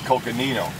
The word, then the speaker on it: Coconino: It's coconino, is how you pronounce it.